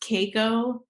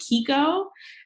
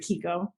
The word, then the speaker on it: Keiko: my middle name and it's usually pronounced Keiko but my family I guess being American they just didn't know I was actually pronounced so we've always pronounced it Kiko and so I just always pronounce it Kiko now got it got